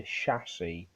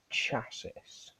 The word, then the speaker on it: chassis: not the hood we have the chassis not the chasis god damn America I